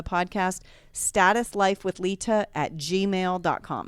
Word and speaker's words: Leta: want status life with lita l-e-t-a there's no d in it and i did notice